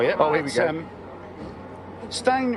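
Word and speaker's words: Stijn: Stein, I think that's how you pronounce that, is it? S-T-I-J-N? Yes. Stein.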